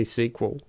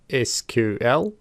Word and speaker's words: SQL: So, there are two ways to say SQL. We can either say the letters as in SQL or we can say the word SQL. Either way of saying it is fine.